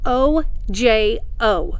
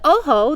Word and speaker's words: Ojo: have taken any spanish you might recognize the word oh ho it means i and it's spelled o j o we will never call it ojo okay so the oho the ojo stands for